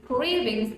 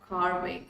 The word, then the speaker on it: cravings: have seen students mispronounced it is cravings not carving okay it's cravings all right and another